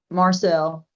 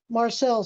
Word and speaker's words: Marcel: Is that Marshall or Marcel? How do you pronounce that? Marcel. Marcel.